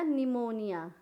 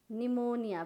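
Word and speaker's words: pneumonia: क्या करेंगे शत्रुओं अब पीछे क्या हो गया निमोनिया निमोनिया पीड़ित साइलेंट है और यहां पर स्पेलिंग देख लीजिए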